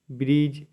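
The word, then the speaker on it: bridge: आई डी जी ई ब्रिज मतलब pool इसमें भी डी नहीं पढ़ना ब्रिज नहीं पढ़ना है सिर्फ आपको ब्रीज बोलना है ठीक है एज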